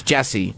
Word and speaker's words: Jussie: Yeah, it's Jesse, spelled with a U.